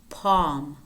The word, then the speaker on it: palm: And words in which the L is not pronounced. Calf, calf, chalk, chalk, should, half, half, talk, talk, folk, folk, palm, palm, wood, wood, salmon, salmon.